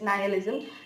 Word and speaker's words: nihilism: Okay, so nihilism, कुछ लोग nihilism बोलते हैं, nihilism बोलते हैं, so it's like easy, but what is the real pronunciation? It's nihilism.